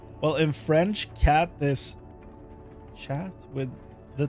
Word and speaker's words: chat: Well, in French, cat is chat with the t is silent. So, chat, but the ch is more like sh.